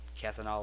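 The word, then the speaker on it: Kanthal: hell with this silica fiberglass week and uh cathol wire that's how you pronounce it um doing it job well I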